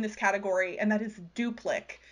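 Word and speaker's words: Duplik: is also in this category and that is duplic it's spelled d-u-p-l-i-k but it's been published under a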